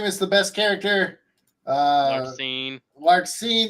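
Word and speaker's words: Larxene: Larcene. Yeah, that's how you say her name.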